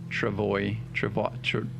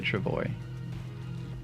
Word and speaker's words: travois: we pronounce the word travois, travois. I imagine that it's a Frenchish word, so the S is probably not pronounced, which is why I think the OI is probably a W.